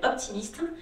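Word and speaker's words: Hope Team East: Et donc on a monté une association qui s'appelle Optimiste. Alors qui s'écrit pas Optimiste, ça s'écrit Hop, espoir, Team, équipe et East. C'est le renouveau, le soleil se lève à l'est.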